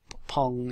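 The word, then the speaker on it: ポン: In Japanese it's chi, and in Japanese pong is pon.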